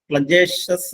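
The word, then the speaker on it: flagitious: ആണ് ആ വേർഡ് ഇതാണ് ഫ്ലജിഷ്യസ് എഫ് എൽ എ ജി ഐ ടി ഐ ഓ യു എസ് എഫ് എൽ എ ജി ഐ ടി ഐ ഓ യു എസ് പ്ലജേഷസ് എന്നാണ് അതിൻറെ ഉച്ചാരണം അതിന്റെ മീനിംഗ് അതിനിയമായ അല്ലെങ്കിൽ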